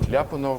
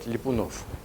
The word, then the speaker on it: Lyapunov: And also, I use the opportunity to say that Lyapunov is not Lyapunov, but Lyapunov. So the accent is different, but everybody in the West pronounces like this.